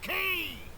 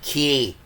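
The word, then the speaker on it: Quay: Peregrine Key! Peregrine Key. That's right. It's pronounced Key, because English is a stupid language.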